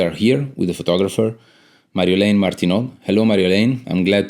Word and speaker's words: Marjolein: It's called, you pronounce it actually as Marjolein, the Dutch way, but over the last years, I've heard people say Marjolein.